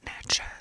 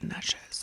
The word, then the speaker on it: Natchez: Helena Greenville Vicksburg Natchez Natchez is how you say it I read a book where that was that niches I've been to Greendale